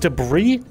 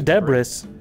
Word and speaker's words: debris: range of that uh wait it's pronounced debris I've been saying Deborah's what I'm fine Debra